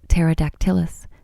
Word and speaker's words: Pterodactylus: The pterosaurs in this gallery were modelled on a small form known as Pterodactylus. Oh, it's given me a pronunciation.